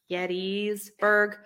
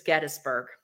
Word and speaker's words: Gettysburg: holy cow um yeah if you say Gettysburg yetis Berg the locals will correct you um it's Gettysburg it's Gettysburg um yeah so I've been to Gettysburg quite a few times